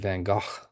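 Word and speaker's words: Van Gogh: I've been showing you a few paintings by Van Go this quarter and this is titled the church at Oair by Vincent Van Go.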